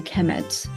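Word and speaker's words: Kemet: uh it will be the noun will be pronounced a chemet so so uh Egyptians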